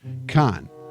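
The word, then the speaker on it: carn: Khan, officially the colloquial pronunciation of come on.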